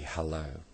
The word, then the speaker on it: Hullo: "Halloola, darling," she said. I think that's supposed to be hello, but it's spelt Hullo.